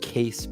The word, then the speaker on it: Kaess: But yeah, it's just a normal kind of.